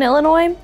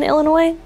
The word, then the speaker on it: Illinois: that serve alcohol in Illinois yes but only in bars where less than 50 percent of sales are from alcohol why do people from Illinois get mad when you pronounce the S why it really Illinois